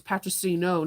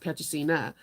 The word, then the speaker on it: Patricino: It's Patricino, not Patricina.